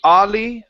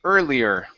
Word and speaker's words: earlier: and let's go to this word here early instead of Ali aler it's early earlier earlier okay so uh